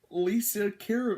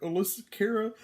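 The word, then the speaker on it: Alessia Cara: pronounce your name wrong i believe it's lisa kara or alyssa cara i really sure is i believe it can be pronounced you know two different ways but yeah i'll keep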